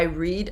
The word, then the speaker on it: read: Same spelling here, different pronunciation. Read. Every day I read a new book. Past tense, like the color, red.